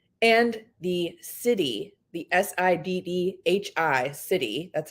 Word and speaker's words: siddhi: gift of style and the city the s-i-d-d-h-i city that's how that's spelled which means divine gift this is like